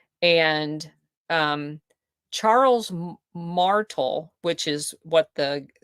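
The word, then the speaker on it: Martel: Declaration of Independence another entity called The Charles martal m- a r Tel Society um it was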